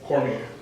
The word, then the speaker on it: Cormier: Cormier.